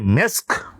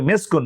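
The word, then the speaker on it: مسك: না তো ওই জন্য আমরা বলি যে মেসক আমরা মিসক বলি কিন্তু আসলে উচ্চারণ হবে মেসকুন মিম সিন এবং ছোট কাপ মেসকন আর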